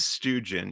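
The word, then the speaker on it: Stewjon: the character lodico who is from the planet stoogen and or is it stu john uh again it's never been spoken in universe so okay so how does lotiko say it i'll go with helen he says stoogen yeah okay so students so i've been saying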